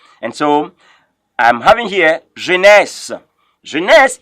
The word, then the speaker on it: Genèse: And so I'm having here Genèse. Genèse, if I were you, I would pronounce Genèse as G-E-N-E-S.